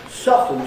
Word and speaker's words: soften: Soften is, you don't pronounce the T in that.